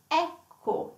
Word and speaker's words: ecco: And then an open, it could also be an open E, like ecco. Ecco is here, it is here. So you see, elegante, closed E, and ecco, like an open, open sound E.